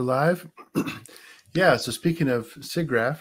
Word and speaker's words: SIGGRAPH: speaking of siggraph seagraph I don't know how to say it I think that's correct I think it depends on where you're located okay so if you're located in is it Vermont Vermont vermonters absolutely say sea graph I've asked many vermonters